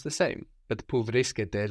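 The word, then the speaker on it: βρίσκεται: Pou vriskete tora. Very good. Pou vriskete tora. So the ete ending actually sounds like the plural you ending. No, it's spelled differently, but it sounds exactly the same.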